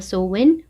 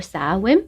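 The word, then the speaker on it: Samhain: la festividad celta de Samaín, que se pronuncia algo así como Soen o Saem, celebrada el 31 de octubre en las comunidades europeas de Irlanda, Gales y Escocia.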